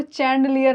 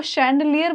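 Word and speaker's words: chandelier: शैंड, मैं इसलिए बोल रही हूँ इसको चैंडलियर ना पढ़े क्योंकि अंग्रेज है भाई.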